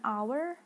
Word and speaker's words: hour: we also we also use an like an hour not our and then in other